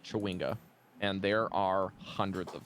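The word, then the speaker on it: chwinga: is yet but yes they are pronounced chawinga and there are hundreds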